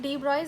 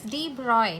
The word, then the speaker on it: de Broglie: Okay, starting with de Broglie's hypothesis, it is pronounced as de Broglie, not de Broglie.